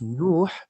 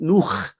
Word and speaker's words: Nuh: of them, this Raza, pronounced Nuh as Nu. Nu. And what does Nu mean? And then he changed it due to me and made it Nuh.